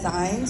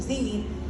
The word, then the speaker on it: zines: good Community connectors so when people typically see this word they want to pronounce it as signs but I think a very fun way to remember their pronunciation Zen is to think of